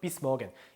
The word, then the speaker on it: bis morgen: 자, 그 다음에 요 표현 bis morgen, 그것도 morgen 이렇게 강조 안 해도 돼요. bis morgen.